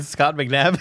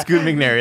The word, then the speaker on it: Scoot McNairy: Scott McNabb. Scott McNabb. Yeah. Scoot McNairy.